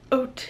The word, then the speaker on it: Haute: But I've seen people say hot hijab or haute hijab, but I think it's pronounced haute, like oats, like a bowl of oats.